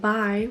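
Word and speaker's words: bei: it's pronounced e and by which means at it's spelled b e i but it's pronounced by furthermore there are four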